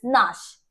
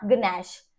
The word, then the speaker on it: gnash: नॉट गनैट, ठीक है, this is GNASH, this is नाश, ठीक है, नॉट गनैश, and this is GNAW, नो, नॉट ग्नो, ठीक है।